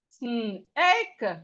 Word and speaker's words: snake: like snow, snow, snow, snake, snake. The E here is silent.